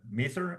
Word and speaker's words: Maseer: Here you are, Maser. Am I saying it correctly? Master, Masir, Masir. So it's Masir. based Oh, off of like in seer, Arabic, like all okay, Masir Masir. is Okay, like destiny.